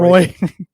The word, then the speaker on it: Roy: good for both teams it's mispronounced it should be Patrick Roy Roy um on This Day